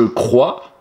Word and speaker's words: crois: Je crois. Ah, attention, le S. J'en ai pas besoin, je ne l'ai pas prononcé. C'était une lettre muette.